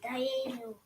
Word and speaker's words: Dayenu: Die, Yay. die, yay, nu.